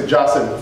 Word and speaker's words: Qasim: What happens, like if someone, his name is Qasim in Qatar or whatever, in Qatar, what do they say? They say it's Jassim, Fulan Abu Jassim, right?